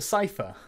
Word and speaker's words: cipher: I have to keep clarifying just in case someone thinks, oh, he's not pronouncing cipher properly. Yes, I am, but I used to call them chipper, like I said before.